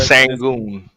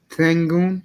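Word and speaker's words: Şengün: I think And yeah, I can you mean pronounce Jokic his name for isn't me, please? Jokic isn't athletic, but Sangoon. Sengun.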